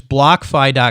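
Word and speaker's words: BlockFi: you know we're so it's block fie calm and it's spelled like block and then fi right and and tell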